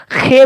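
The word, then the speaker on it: خ: ऊपर अगर नुक्ता हो जाए तो उसको खे बोलते हैं उर्दू में, जैसा कि आप देख पा रहे हैं।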